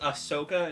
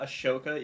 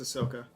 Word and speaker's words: Ahsoka: I love Hut yeah did you know it's pronounced Ahsoka and not a shoka even though there's a H in it yeah it's it's Ahsoka should be a shok ahoka AOK do you